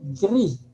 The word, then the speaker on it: gris: Solo no suena la S, pero es igual, ¿sí? Casi igual, solo que en francés las S al final no suelen pronunciarse como en español, ¿sí?